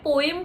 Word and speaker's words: poem: अब मैं पोएम को कुछ लोग पोएम बोलते हैं, कुछ लोग पोम बोलते हैं, मैं पोम बोलती हूँ. दोनों प्रोनाउंसिएशन करेक्ट है. हो सकता है आपको सुनने में अजीब लग रहा हो बट ये भी सही प्रोनाउंसिएशन है.